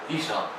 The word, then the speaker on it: Ihsahn: There's no real way of pronouncing it. It's just how I pronounce it, because it's a constructed name that I made up.